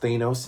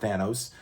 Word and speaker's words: Thanos: Yes, it's pronounced Thanos, not Thanos.